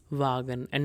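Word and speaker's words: ä: So for that, you can take the English word mad and just forget about M and D in mad. You'll be left with A sound.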